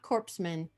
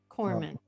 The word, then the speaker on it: corpsman: a hospital Corman and I'm glad I pronounced that right not corpsman Corman much I love Obama